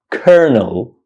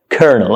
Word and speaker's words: colonel: learning English or not this word is pronounced kernel kernel konel I know it's shocking right it comes as a big surprise to you that why is it spelled Colonial but it's pronounced kernel I don't know this